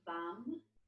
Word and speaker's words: Vam: And we'll start our practice tonight using the seed syllable of the second chakra, which is VAM, V-A-M.